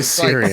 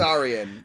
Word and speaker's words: Saurian: Don't say Syrian. Like Saurian. It's probably pronounced Saurian.